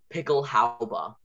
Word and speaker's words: Pickelhaube: So pickle, P-I-C-K, that's pretty easy. And pickle, E-L. And then for the H sound, it's H. For the au sound, it's A-U. We note that down. And then B, how ba. And the ending is E.